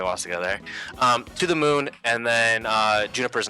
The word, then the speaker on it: To the Moon: to to the moon it's pronounced to the moon I I I was thinking of Pokemon so I've only seen that word read that that word you know in print before so I don't really know how to pronounce it I'm pretty sure it's to the MU I had Pokemon on the brain so I was thinking to the Mew like that's not no